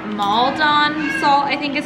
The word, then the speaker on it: Maldon: This is Maldon salt, I think is how you say it, but it's like that flaky, chunky salt that is delicious.